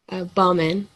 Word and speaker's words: Bauman: I'm going to make sure I get the pronunciation of both names correct is it bauman or Bowman Bowman Bowman Bowman can I call you yes okay and you can call me dr.